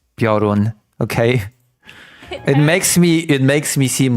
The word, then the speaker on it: Piorun: repeating a billion times that it's not Prion, that it's Piorun.